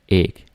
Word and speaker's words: æg: And here we actually have a hard G.